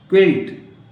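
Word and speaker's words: quilt: वेग, VAGUE, क्विल्ट, अब क्विल्ट पढ़ते हैं इसको, क्विल्ट क्या पढ़ते हैं इसको, क्विल्ट, क्विल्ट मीन रजाई, लेकिन यू का कोई उच्चारण नहीं, यू नहीं पढ़ते, राइट।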